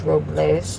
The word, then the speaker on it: Robles: going to Paso Robles they call it us approvals well the correct pronunciation is Robles but they call it